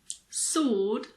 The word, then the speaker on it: sword: There are also a few random words with a silent W. Some common ones are answer, sword, and two, the number 2.